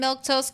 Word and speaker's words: Milquetoast: If I'm Milktoast Claire, that's how you say my name.